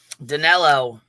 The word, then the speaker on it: Danelo: Danilo.